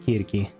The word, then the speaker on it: Kirki: And they pronounce it Kirki as they should.